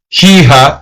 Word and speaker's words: hija: Por cierto, by the way, el cumpleaños de mi hija, the H is silent, so you don't say hija, it's hija.